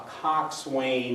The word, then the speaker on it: coxswain: read mark twain it's it's a cox wayne is a full pronunciation um it's kind of abbreviated cox and c-o-x apostrophe and